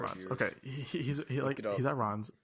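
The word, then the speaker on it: Rennes: Rons? Runs? Oh, we got to make sure we're pronouncing this right for our viewers. Okay, he's at Rons.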